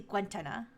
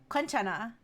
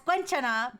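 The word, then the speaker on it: 괜찮아: Maybe I remember it being pronounced Maybe I remember it being pronounced Kentenna, but it's actually Guenna. Uh yeah, it's it's Kenchana. Yeah, it's Quenchana, but I remember it being pronounced Kenchana. That's what I meant. But then I relearned it because of K-pop.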